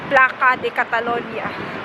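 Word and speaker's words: Plaça de Catalunya: Nasa plaza pero pag-pronounce dito is placa de Catalonia.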